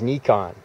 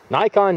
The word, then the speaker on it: Nikon: Nikon in my hands, or you may refer to it as Nikon, depending upon how you like to pronounce it. Nikon, Nikon, doesn't matter.